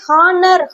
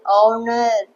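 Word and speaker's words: honour: ஹா, இத சில ரொம்பவே ஹானர் ஹானர் அப்படின்னு ப்ரொனவுன்ஸ் பண்ணுவீங்க. இது ஹானர் கிடையாது, ஆனர். ஹச் வந்து சைலண்ட் தான்.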